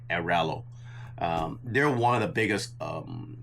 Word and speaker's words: Airalo: I can never pronounce that. It's Aralo.